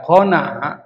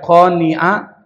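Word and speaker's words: قناعة: nah Q Nun Ain ini kalau dibaca qana itu artinya meminta-minta tapi kalau dibaca qoniah itu artinya menahan diri merasa cukup jadi beda itu dalam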